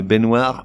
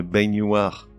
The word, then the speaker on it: baignoire: un ou une poêle une baignoire mais une baignoire le mois de juin